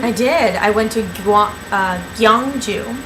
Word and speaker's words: Gyeongju: I went to Gyeongju, which I still have trouble pronouncing. It's Gyeong-Ju.